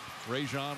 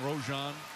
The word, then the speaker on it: Rajon: his second personal everybody mispronounces his name back when he was at school he said teachers used to mispronounce his name all the time rajon rojon i never get it